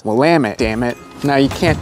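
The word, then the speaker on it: Willamette: Portland alone as there are ways to improperly pronounced wamit this one really confuses some newcomers to the area it's not willit it's not willami it's wamit damn it now you can't talk about northeast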